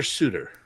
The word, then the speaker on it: Sutter: it's kind of su it's spelled Sutter but I believe it's pronounced Suter either way pretty good